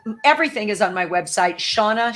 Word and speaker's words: Shawna: You're a ball of energy, Shauna.